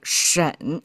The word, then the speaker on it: 沈: Now, this Shen you can see the pronunciation is a kind of a related but different. It's instead of a Jen, now is Shen.